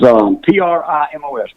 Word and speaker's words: Primos: Is Primos. Primos is my given name. Is the name of the company. You know, probably starting out, I'd have never named the company Primos because I didn't know where I was going